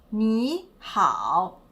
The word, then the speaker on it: 你好: quanto riguarda i toni qui abbiamo una parola che ha due caratteri entrambi di terzo tono qual è il terzo